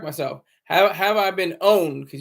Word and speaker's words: pwned: have have I been owned because you don't pronounce the P you say how I been owned site that allows users